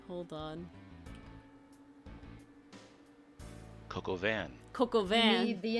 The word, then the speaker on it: coq au vin: Oh, this is the one French food thing I never pronounced right. Coquavine.